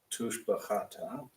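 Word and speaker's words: תושבחתא: You got two shavas next to each other. First one is silent. The second one is vocal. So tush, the, cha, ta. Tushbachata.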